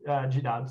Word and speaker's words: GDAL: was RGDAL with the old school say GDAL, but the new kids say GDAL, so you pronounce it as you way.